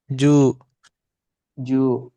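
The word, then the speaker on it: じゅう: U-nya panjangin dikit. Ju ju.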